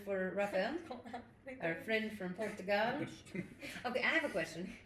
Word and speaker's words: Portugal: Because when you say Portugal, you're it's very closed, but we say Portugal. We Yeah. open it at the end.